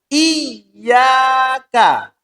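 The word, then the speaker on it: إِيَّاكَ: Iyaka. Ya, iyaka. Harus ada tekanannya. Kalau tidak, wah maknanya wow ini. Baina sama wasumur syat ini. Jadi sangat melenceng jauh. Kalau iyaka yang dimaksud adalah kepada engkau ya Allah saya menyembah.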